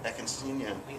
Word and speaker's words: Eckenstein: And Crowley often said, when he was with Oster Eckerstein, am I pronouncing that right? Oscar Eckenstein? Eckenstein, yeah.